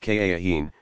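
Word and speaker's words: kahin: their secrets to a soothsayer called a cahiim pronounced ka Akeem who uttered the proper formula some of muhammad's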